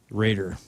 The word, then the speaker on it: Rader: Greg Rader. Raider. like, spelled like Dennis Rader, BTK killer. R-A-D-E-R.